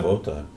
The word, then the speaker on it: Wotan: Is that how you pronounce it? Wotan? Yeah, Wotan.